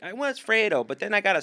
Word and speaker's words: Fredo: Or Frito? Oh, Maddie, it's Fredo, but Frito's I like hilarious.